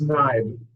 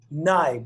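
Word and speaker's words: Knibe: It's Nibe. Nibe. Okay, so silent K.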